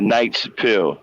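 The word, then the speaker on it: Knight's Pill: pill that I created called the Night's Pill. That's the proper way of saying it. Night Pill for short, spelled with a K.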